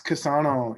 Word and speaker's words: Casano: For anyone out there watching, for this virtual episode, I'm hanging out with Josh Casano. Am I pronouncing that correctly? Yes, Casano.